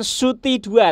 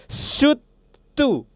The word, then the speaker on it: Soothe 2: yaitu adalah suu Nah jadi bukan Suti dua ternyata teman-teman cara bacanya itu bukan Suti du tapi adalah su tu nah gitu aku nonton